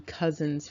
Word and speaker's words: Cousins: one is from the Cousins family. Now those of you who are from deep down south in New Orleans, Louisiana area, this name is pronounced Cousin. So you might see it pronounced that way.